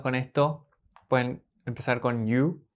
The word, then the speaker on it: yü: con el game pasemos a el aspecto energético you y la forma en que lo vamos a pronunciar es yoo y um y um no tienen que